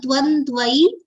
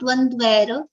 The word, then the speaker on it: द्वन्द्वै: kamaha Dvandvai vimuktas dvandvai after dvandvai is a rafal for which pronunciation is dvandvai dvandvai and not dvandvair or on the next the second the vowel sound of I has come pronunciation is dvandvai and the pronunciation of dvandvair will be wrong dvandvai vimuktas dvandvai विमुक्ताः सुखदुःखसंज्ञै सुखदुःखसंज्ञै संज्ञै संज्ञै.